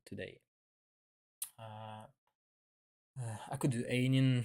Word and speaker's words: Aenain: I think it should be I've been told by Riccaroni that it should be pronounced like Ainul. Well, Ainul, but I'm not gonna